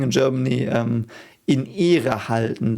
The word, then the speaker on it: Ehre: Ehre was so interesting. Ehre, because of the H that's silent, the E is a bit longer, and the E in English, like it's pronounced E in German.